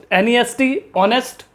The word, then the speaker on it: honest: HONEST, ऑनेस्ट, Hindi में ऑनेस्ट यानी ईमानदार, तो आप देख सकते हैं फ्रेंड्स, यहाँ का जो पहला वर्ड H है वो साइलेंटली प्रोनाउंस किया जा रहा है।